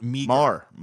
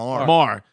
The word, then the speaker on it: Meagher: saying it's Thomas Meagher, not Meagher. Marr. No, he's not Thomas Marr. Not because if it's Meagher, it's just you can't say any words that are even close to anything. So you better just pronounce it right because it looks like it's